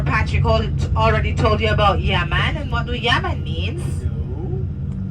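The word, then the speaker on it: yeah mon: question, it's going to be yes, you say yaman. Yaman means yes. It is spelled Y-E-A-H-M-O-N.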